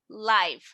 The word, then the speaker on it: live: Y en ese caso es live porque es en vivo, no es Saturday Night Live.